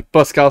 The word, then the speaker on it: Poscar: pas changé non c'est poscar ouais en fait c'est c'est c'est pascar ça s'écrit c'est Oscar mais avec un P vous pénétrer sur mon